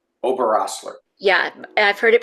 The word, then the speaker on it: Oberosler: Yeah, it's Oberosler. Oberosler. Yeah, I've heard it pronounced also Uberusla as well.